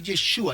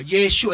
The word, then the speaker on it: Yeshua: preocupe por otras cosas que la pronunciación lo que tiene que decir yeshua yeshua diga conmigo yeshua y